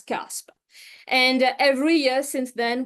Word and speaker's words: C4SP: smart public value governance abbreviated to c4p but pronounced as Casp and every year since